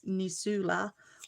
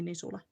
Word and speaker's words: Nisula: I think that's in the American way that would probably be um pronounced as Nisula or something like that, but yeah, in Finnish it would be Nisula.